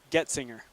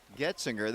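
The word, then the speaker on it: Goetzinger: Getzinger. Getzinger, that's easy. There's just pretend like there's no O.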